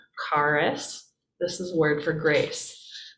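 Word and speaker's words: χάρις: it could be character it's really kind of a k sound um karus karis remember that's an r carus this is word for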